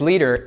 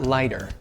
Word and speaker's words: Lieder: First of all, Leader is pronounced leader, not lighter. Second of all, the reason why it's pronounced and spelled that way is because it's a German word.